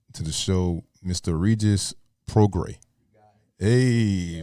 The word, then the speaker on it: Prograis: Regis Prograis. Hey. I said it right the first time, Prograis.